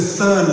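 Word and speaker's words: Thurn: So fern is spelled T-H-U-R-N for all the good that does you.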